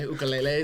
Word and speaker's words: ukulele: ukulele line which is by the way ukulele is how you say it so holy sorry uh